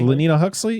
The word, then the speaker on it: Lenina Huxley: Lenina Huxley.